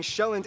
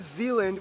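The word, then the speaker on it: Sjælland: inhabited with the largest island being shown not Zealand which is not to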